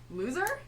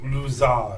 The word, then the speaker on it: Lujar: Loser? It's pronounced Luzar.